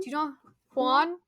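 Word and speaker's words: Huan: H do you know Hanan H I don't know yeah the the accent is on the a so we would pronounce the a specifically Hanan okay Aragorn sings three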